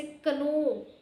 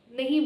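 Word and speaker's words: know: आपको कहती हूं कि के एन ओ डब्ल्यू ये जो है इसे आप एन साइलेंट रखकर प्रोनाउंस करेंगे। आप इसे कनो नहीं बोलेंगे। आप इसे नो बोलेंगे।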